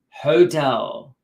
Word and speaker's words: hotel: Because that, remember, Iran, it begins with an H sound, a ha, hotel. Okay, hotel.